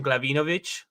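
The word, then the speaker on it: Glavinovich: understand it is Ian glavovic which is just you know like the Argentinian way to pronounce I would think glavovic but uh half Croatian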